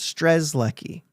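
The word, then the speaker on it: Strzelecki: stresi because it's uh the Z comes before the e but it's pronounced stres Ley um just to note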